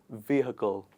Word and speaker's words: vehicle: is very commonly mispronounced it is not vehicle it is vehicle let's do it together please repeat after me it's vehicle not vehicle we do not go with the pr with the spelling of the word we